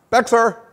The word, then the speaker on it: Bexar: correct answer is Austin Bexar Cactus Diablo Essex Folsom Grizzly Havana and Ice House and that's why they put Mark in charge of the foundation it's actually pronounced bare so that was trying